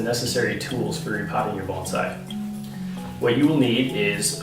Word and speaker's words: bonsai: Yes, the correct pronunciation is bonsai.